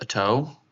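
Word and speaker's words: Oto: A great plains tribe is typically the atto which I think is pronounced a toe.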